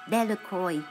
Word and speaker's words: Delacroix: harry jones and dicky delacroix the villagers pronounce this name decoy eventually made a great